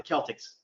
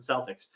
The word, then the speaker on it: Celtics: super into sports um uh they're not the celtics okay come on css get it right it's the celtics um you know that that really makes a